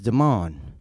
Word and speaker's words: Demond: But when I introduced myself, hi, I'm Eric, and he said, hi, my name is Demond, spelled like demon, sounds like almond.